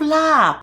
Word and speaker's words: larb: People hear and they probably spell it the way they hear, which is funny because there's no R in larb and it ends on the B, not a P, even though some Westerners,